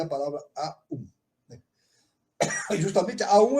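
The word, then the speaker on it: AUM: Sílaba composta das letras A, U e M, né? Três letras A, U e M, das quais as duas primeiras combinam-se para formar a vogal composta O, né? A U se sintiza em O.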